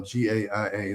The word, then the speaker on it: Gaia: There's a series on Gaia, the Gaia channel, GAIA, that's how I pronounce it, Gaia, that's called Inner Evolution.